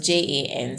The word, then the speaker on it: Jan: saint john so john is spelled j-a-n so jan like january jan 15.